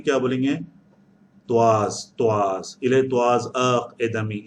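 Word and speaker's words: trois: त्वाज, त्वाज, इले त्वाज अक एदमी। याद रख लीजिए, मैंने प्रोनाउंसिएशन नहीं लिखा, त्वाज है।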